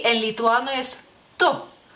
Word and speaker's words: tu: Tú, se escribe, digamos que igual como, se escribe en español, solamente no ponemos el acento, y la U es un poquito más corta porque es una U corta en lituano.